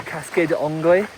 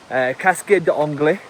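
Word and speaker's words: Cascade des Anglais: in French or in English. Also, so you laughing at my French pronunciation? Cascade d'Anglais. Cascade d'Anglais is ultimately it translates into English as the waterfall of the English, or the English waterfall. We spoke to a lot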